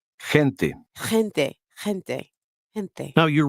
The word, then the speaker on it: gente: Now repeat number 12 after the speaker, paying attention to the GE combination. Gente. Gente.